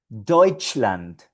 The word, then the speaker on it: Deutschland: Deutschland, Deutschland, Alemania.